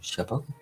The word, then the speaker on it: Chialpa: L'empereur Tauros, donc à prononcer Soros, reconnaissant sa maladresse, demanda à sa disciple Chialpa, donc à prononcer Chiapa, d'évacuer la preuve de son erreur.